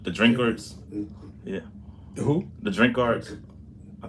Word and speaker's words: Drinkard: The family was called the Drinkards. Yeah, Who? the Drinkards. I think that's how you pronounce it.